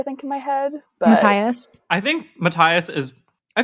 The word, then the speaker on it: Matthias: But Matthias. I think Matthias is. I feel like Okay. I've met people who spell their names that way and do not pronounce the th.